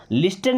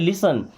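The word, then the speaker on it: listen: Will लिसन, लिस्टन नहीं पढ़ना है, क्या पढ़ते हैं, लिसन।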